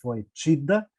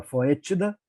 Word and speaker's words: foetida: Enxertadas em uma espécie silvestre chamada de Passiflora foetida, ou Passiflora foetida, tá? Se pronuncia dessa maneira mesmo.